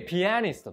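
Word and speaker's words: pianist: 注意ですよね日本ではピアニストピアニストと言いますけれども英語ではリストの前にアクセントがありますから p ありすと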